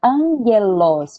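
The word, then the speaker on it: ἄγγελος: Como é que se separa de ler angelos, que você falou, angelos, é com dois gamas, certo?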